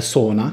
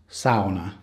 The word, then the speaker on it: sauna: sure most of you have heard of a sauna which is actually pronounced sauna just so you know but here in finland